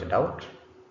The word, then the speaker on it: doubt: This word is doubt. Doubt. Doubt. B is not pronounced.